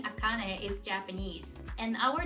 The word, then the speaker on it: Akane: is a little hiccup when I say my name is akane people usually go like akani and I have to repeat it imagine doing this every